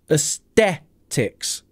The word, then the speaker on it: aesthetics: at the word itself this is a Greek word which is why we have this peculiar start with a e s and the pronunciation is Aesthetics Aesthetics Aesthetics Aesthetics you can see the phic alphabet here the schah at the start AE Aesthetics Aesthetics we might